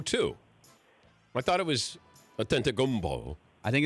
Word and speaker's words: Antetokounmpo: is pronounced B-O, so the end of the name should be Kumbo, not Kumpo. Are you basing that on anything in reality, or are you just saying that? Giannis Antetokounmpo.